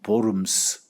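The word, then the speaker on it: Worms: 독일어식 발음면 보름스. 영어로는 웜스입니다.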